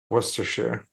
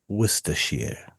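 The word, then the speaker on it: Worcestershire: like it's I I can confirm it's it's pronounced Worir. Worershare. Woristers.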